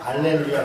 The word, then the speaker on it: 할렐루야: 원래 발음상으로는 이제 어떤 데는 할렐루야, 어떤 데는 알렐루야 그래요. 그래서 알렐루야는 뭐고, 어떤 사람도 놀렐루야 그러는데 알렐루야는 뭐고 할렐루야는 뭐냐 같은 거예요. 우리가 여호와 야훼 역시 발음 차이예요. 근데 아마 발음상으로는 알렐루야 쪽이 조금 더 가까울 거예요.